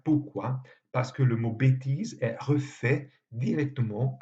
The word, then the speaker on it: bêtise: Par exemple, bêtise, qu'on prononce avec « et » fermé, s'écrit avec un accent circonflexe comme s'il s'agissait d'un « et » ouvert. Pourquoi? Parce que le mot bêtise est refait directement à